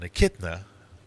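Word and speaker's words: echidna: So an akidna, that's how you pronounce it, is an example of a monotrim just like a badger, b fox, c platypus, or d raccoon.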